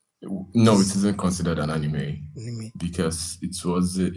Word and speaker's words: anime: not just cartoon now anim specifically do you watch anim yeah I do watch anime okay sorry it's pronounced anime oh my goodness June